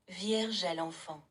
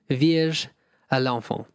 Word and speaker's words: Vierge à l'enfant: How do you pronounce that? Vierge à l'enfant. Vierge à l'enfant.